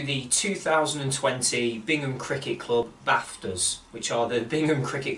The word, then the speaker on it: BAFTAs: Good evening everybody and welcome to the 2020 Bingham Cricket Club BAFTAs, which are the Bingham Cricket Club Awards for Tremendous Cricket Achievements. Yes, the C is silent.